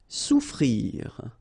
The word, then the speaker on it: souffrir: Souffrir. Okay, so double F is not pronounced. Okay, so souffrir.